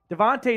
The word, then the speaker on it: Devontae: Devontae is a 3-syllable first name.